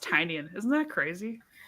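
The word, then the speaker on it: Tynion: Um also it's pronounced Tinian.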